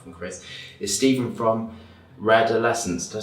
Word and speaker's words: Redolessence: welcome back to my channel, and I'm very happy that my first guest, apart from Chris, is Stephen from Redolessence.